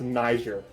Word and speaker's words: Niger: to get to and plus I know it's pronounced Niger because it's was kind of Nigeria or n